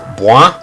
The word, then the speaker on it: Blois: So our first objective really is to escort Jean to Blois, is how it's pronounced, I believe, to get some more troops.